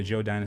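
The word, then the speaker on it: Zhou: It's It's like based around based around Chinese cuz if you look at Empress Joe, I know her I know it's pronounced Joe, but I I just call her I don't know.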